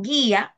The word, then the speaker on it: guía: Por ejemplo, en guía no hay dictongo. ¿Por qué? Porque cuando acentuamos la palabra la la sílaba gui, ¿verdad? Ahí se rompe el dictongo y se separa esa sílaba en dos.